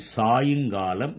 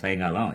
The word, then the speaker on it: சாயுங்காலம்: ஆனால் பேச்சு வழக்கிலே அதை வேகமாக சாயங்காலம், எப்போ வரீங்க, சாயங்காலம் வரோம் அப்படின்னு நம்ம சொல்றோம். சாயங்காலம் என்பது தவறு. அதற்கு சரியான இலக்கிய உச்சரிப்பு என்று கூட சொல்லலாம். சூரியன் ஒரு பக்கமாக சாய்வதனாலே அதை சாயுங்காலம் என்று சொல்லலாம்.